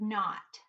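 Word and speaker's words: knot: We pronounce this word not. N, A, T. The K is silent. Whenever we have K and N together, we just say N.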